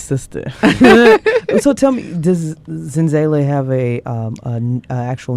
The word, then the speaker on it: Zenzalai: from the zulu language you can pronounce it in that language zinzale but uh i pronounce it in zele but it really means